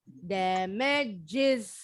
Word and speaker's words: damages: Karena kata dasarnya damage. Ditambahin is. Damages. Jadi yang is bunyinya.